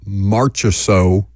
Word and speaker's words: Marchessault: Jackson is working diligently to get some Marchessault audio. Did I pronounce that a different way? You got it. Good. You just sounded it out.